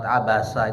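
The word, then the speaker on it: عبس: Pak, Ibu bedakan abasa pakai huruf sa sama huruf sin.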